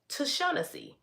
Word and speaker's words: Tashawnessy: But yeah, my oldest daughter name is Tashawnessy, which is in syllables. 4 syllables.